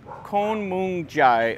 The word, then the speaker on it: Khun Mueang Chai: is kind of interesting this is what kon-mung jai i think is how you say it anyway it's the uh